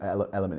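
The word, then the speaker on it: LMNT: It's it stands for element, but it's spelled L M N T.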